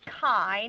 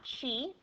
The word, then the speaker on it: chi: the chi-squared distribution, and it is pronounced chi, not chi, okay, and it is